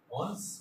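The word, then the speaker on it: horns: हॉर्न्स means are यहाँ पे silent हो जाएगा, हॉर्न्स।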